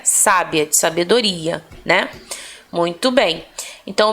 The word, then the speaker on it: sábia: forte tá agora aliás proparoxítonas as palavras cuja sílaba tônica é o que a antepenúltima né então por exemplo uma mulher sábia Olha isso sábia o sábia teve assento aqui